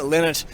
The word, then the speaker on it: Lynott: So I'm heading up to Birmingham, to visit West Bromwich, where Phil Lynott, I don't know how you say his name, Lynott, yes, of Thin Lizzy, was born to an Irish mother and a Guyanese father.